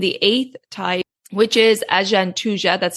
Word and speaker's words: Agantuja: And then the final type of Jwara, and the eighth type, which is Ajantuja, that's spelled Agantuja.